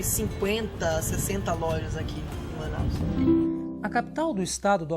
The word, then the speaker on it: Manaus: se chamar ainda a cidade de manaos né se escreve se vai for no entanto a pronúncia é Manaus né pronuncia é Manaus mas ficou conhecido assim